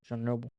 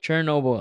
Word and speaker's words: Chernobyl: Chernobyl. Sure. Chernobyl. What? Chernobyl. Sure, that's not how you say it. What was it? Chernobyl. Chernobyl.